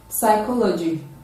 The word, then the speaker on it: psychology: part does not reflect the word psychology psychology in that in psychology is is not voiced it is a silence p diaphram photo receipt it